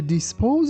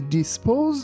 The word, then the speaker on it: dispose: He disposed of the can by throwing it into the recycle bin. Here. Be careful. That second letter S sounds like Z, not S. We don't say dispose. We say dispose.